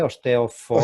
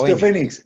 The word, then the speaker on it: Osteophoenix: Me cuesta pronunciarlo, ¿eh? Osteophonics. Osteofénix, Osteofénix.